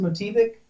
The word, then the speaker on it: Motivik: It's pronounced Motivik. No big deal. A lot of people call it Motivik, which is a cool name too.